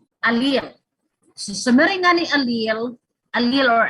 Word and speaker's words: allele: Summary nga ni allele, allele or alleles. This is correctly pronounced as allele. Diri allele, ha, diri allele or alleles.